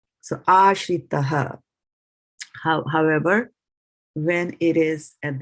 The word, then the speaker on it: āśritaḥ: So since it's inside it, the least emphasis will be placed on it. So aśritaḥ. So you see, you didn't even see me or hear me pronounce the A. It kind of went in between the T and the H over here.